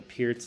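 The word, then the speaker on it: Pirc: PS so um uh the PS is spelled p i r c like perk um for anybody who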